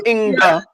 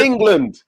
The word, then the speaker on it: England: right about england england there's no a after the g it's not inga it's england yeah it's two syllables where did i come